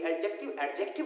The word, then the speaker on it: adjective: तो हमने आज एडजेक्टिव के बारे में क्या जाना कि एडजेक्टिव नहीं होता बल्कि एडजेक्टिव होता है, इसका डी साइलेंट होता है।